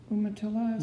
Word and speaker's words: Umatilla: the monoprints that you did up at the umatilla sure is that how you pronounce the reservation land umatillas yeah that's right the yamato reservation in eastern